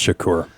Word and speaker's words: Shakur: It's pronounced Shakur.